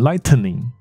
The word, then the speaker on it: lightning: 可是如果你加了一个 N 在里面的话，它变成是打雷。那它的发音怎么念呢？这个 T 跟 N 中间是没有真正的音的，所以它是用一个鼻音带过去，所以你不会把它念成 lightning，你会把它念成 lightning， lightning， lightning，就一个鼻音带过去就可以了。OK，好，所以这个是那个 iPhone 它的充电的那个规格，叫做打雷，雷哦 lightning port，所以它就 lightning port 说 see you later， USB see you later。